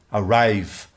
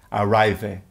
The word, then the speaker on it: arrive: Arrive, a pronúncia termina em /v/ “arrive” e não /ve/ “arrivé” Com relação à worked – loved – added, como é a pronúncia final do -ed?